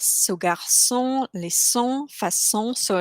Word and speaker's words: garçon: Then the C with the little S on the bottom is always pronounced as S. So garçon, laisson, façon, so like a soft S.